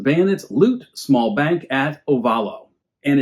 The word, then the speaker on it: Ovalo: It's spelled Ovalo, O-V-A-L-O, and Ovayo or Ovayo, O-V-A-L-L-O, with the Spanish influence.